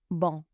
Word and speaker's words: bon: So, because the word bon in its muscular form ends in a consonant, you don't pronounce the m on the end. Bon.